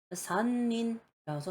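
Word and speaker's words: 森林: 그리고 숲을 림자, 림이라는 음가는 린이라고 읽어요. 산린이라서 삼림이라는 단어를 만들 때 쓰는데 이 산은 나무 3개를 나타낼 때 쓰는 이 산입니다.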